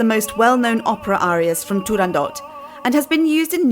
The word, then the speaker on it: Turandot: did you know that although often pronounced as if it were a French word the correct title of the Opera is turandot with a hard T at the end to avoid any misunderstanding